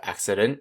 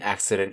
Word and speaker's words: accident: c sound the two c's in accident here are back to how they were before two c's with one making the soft c sound and then the hard c sound the rest of the